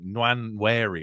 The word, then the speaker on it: Nwaneri: And even if it's Sterling, Nwaneri, I keep getting his name wrong, Nwaneri, I think it is, Ben White at right